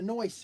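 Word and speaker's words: Noice: face and a noise face. No, no, no. No, no ice face. But it's spelled It's just spelled N O I I C E.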